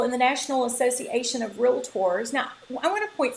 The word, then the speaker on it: realtor: side trip right here please make sure you're pronouncing it with two syllables not three just two so it's realtor you probably hear a